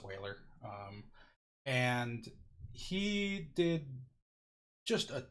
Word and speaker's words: Euler: there is this mathematician his name was his Euler it looks like it's pronounced Euler it's not Euler it's whaler and he did just a ton of math